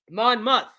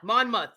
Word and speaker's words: Monmouth: Monmouth, not mouth, Monmouth. That one I got really wrong. But this is kind of interesting. Okay, so how is Monmouth County?